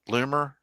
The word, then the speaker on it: Loomer: Laura Learner, I think that's how you Loomer, I think is how you say her name.